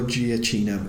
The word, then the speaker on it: Giacchino: you than it was anyone else is Michael Giacchino and he's a famous ya know new mature and hosted correctly because I'm pronouncing myself yeah so he's did the work